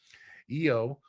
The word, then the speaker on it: Yo: designated by a number EO is is pronoun is uh is uh it's spelled y o but pronounced as y-e-o-h is about six feet